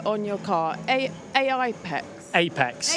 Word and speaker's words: AIEX: Apex. Apex. A spelled AIEX, but we pronounce it.